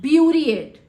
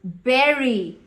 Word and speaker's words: bury: she's going to go Beauty it what did you just say beauty it oh God that's wrong it is Berry b Ur Y is pronounced as Berry kamla is is going